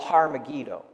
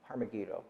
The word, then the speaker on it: Har Megiddo: university of south florida it is megiddo and in hebrew it would be called har megiddo harmegido and if you butcher the translation enough it goes from har to arm and megiddo goes to mcgee don and you get armageddon so they could not